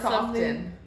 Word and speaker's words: soften: You don't pronounce the T in soften.